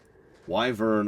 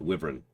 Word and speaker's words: wyvern: impossible by the way living wyvern or wyvern are both acceptable and creepy I wouldn't touch it but wyvern is uh is the the generally accepted pronunciation there you're right